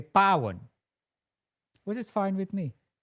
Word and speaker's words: Paw: My name is P A W and it's Pan.